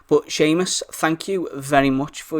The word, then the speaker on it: Seamus: fourth patron for is Seamus moon now bear with me why has spell this it's an Irish spelling so as always there's far more letters than syllables but Seamus thank you very much